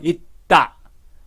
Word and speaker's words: 있다: 그래서 it이 바람을 맞기 때문에 뒤에 있는 다가 따가 됩니다. 그래서 있다.